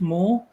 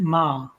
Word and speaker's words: Meagher: It's pronounced Moore. I would have pronounced it Ma.